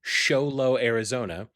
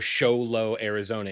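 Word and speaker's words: Show Low: A convenience store clerk in Xolo, Arizona. And I have no idea. Look that up. I need to know where Xolo, Arizona is. Xolo, Arizona.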